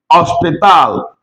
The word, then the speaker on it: hospital: Remember you don't pronounce H when you start that word in Spanish. Remember remember the alphabet. This becomes hospital.